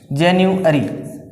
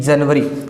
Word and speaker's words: January: लेकिन इसका जो प्रोनाउंसिएशन है, जो करेक्ट प्रोनाउंसिएशन है, जेन्युअरी, क्या बोला जाता है? जेन्युअरी, न कि जनवरी।